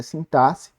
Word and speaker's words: sintaxe: quem fala assim táxi a pronúncia correta é sintaxe acredita em mim eu